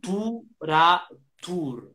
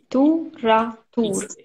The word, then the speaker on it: tour à tour: Tour-ra-tour. Tour-ra-tour. It's called in French enchaînement. We put the R with the A. Tour-ra-tour. We have a silence, but we put the R in the next syllable.